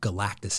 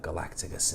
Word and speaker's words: Galactus: of my first videos i mispronounced uh galactus name the silver surfer here and uh galacticus in the background there galacticus it happens i had